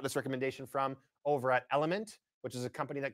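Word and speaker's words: LMNT: uh actually got this recommendation from over at element which is a company that creates an electrolyte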